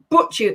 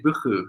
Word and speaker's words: buchu: The tonka bean, okay, and the butchu. How do you pronounce it? That would be buchu. So if you think of, in Scotland we have lochs, so it's a very kind of so it's like buchu.